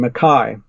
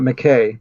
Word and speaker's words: McKay: him on the phone he insisted I should pronounce his name Makai not McKay yeah but it looks like McKay of course to us anyway